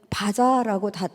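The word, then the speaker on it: בָּזָה: 업신여기다라는 원어는 바자라고 발음합니다.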